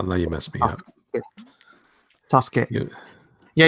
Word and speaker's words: Sasuke: More like a Sasuke, where there's a SU there. Oh, now you messed me up. Sasuke. Yeah. Yeah, you don't pronounce the U often, depending on where it's placed in Japanese.